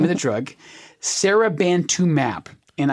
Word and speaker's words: seribantumab: name of the drug, Seribantumab. And I'm emphasizing that last syllable, mab, because M-A-B, when you see it spelled out, that is a suffix at the very end of the drug name, and that tells you it is a monoclonal antibody.